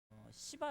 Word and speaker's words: 스바: 뭐 나라가 있어요 어 발음 자야 됩니다 옛날에는 그 뭐 솔로몬과 어 씨바 여왕 이렇게 뭐 해 가지고 영화도 있어요 시바 라고 발음하기도 해요 그래서 스 바로 바꿨는지 모르겠을 때 아무튼 발음 잘해야 돼요 그 스바 여왕이 2